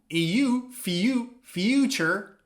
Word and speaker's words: future: Pay attention to the pronunciation and the phonetics. Future with the sound eu, future, and feature with the sound e, feature. Now, future is a period of time, past, present, future.